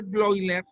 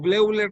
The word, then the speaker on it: Bleuler: entonces lo que descubre blogger así se pronuncia o bleuler como le quieran decir es que no debemos